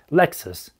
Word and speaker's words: Lexus: Лексус.